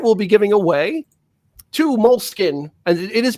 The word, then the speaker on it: Moleskine: stay uh tonight we'll be giving away two moleskin and it is pronounced mole skin I had to look it up it's not moleskinee or a mole skiing like because it looks